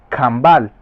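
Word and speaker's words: Canabal: Se escribe básicamente C-A-N-A-B-A-L. Caán Abal. Y su fonética o forma de pronunciación es Cambal.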